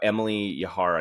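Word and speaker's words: Emily Yahr: So Emily Yahar, I believe is how you say her name.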